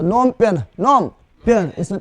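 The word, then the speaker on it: Phnom Penh: कौन जी साइलेंट है ठीक है ना तो नोम पेन नोम पेन इसमें पी भी साइलेंट है एच भी साइलेंट है जब साइलेंट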